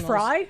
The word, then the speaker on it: Frey: motans and instead Frey actually pronounced Fry.